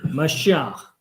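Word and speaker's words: מָשִׁיחַ: 그래서 한번 발음을 들어보시겠습니다. Mashiach. Mashiach. 마시아, 뭐 이런 발음입니다.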